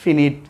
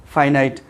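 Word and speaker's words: finite: Students, আমরা এটা কিন্তু অনেকে ভুল বলি, ফিনিট, ফাইনাইট।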